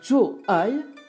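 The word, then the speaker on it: 坐爱: D'autres, invoquant la poésie érotique de Dumont, remarquent que Zhou Ai se prononce comme faire l'amour et imaginent une scène du fiacre flaubertienne sous la dynastie Tang.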